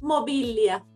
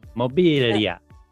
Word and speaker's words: Mobilia: pronounce that Mia it's mobilia mobilia mobilia exactly exactly yes yes the at the at the end yeah that sounds that has kind of an Italian ring when I when I